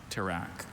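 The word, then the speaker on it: tirak: Alter pronunciations. Just the one. Track.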